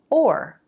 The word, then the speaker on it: or: You might have learned that the pronunciation of this word is or, like it would rhyme with more or the number 4.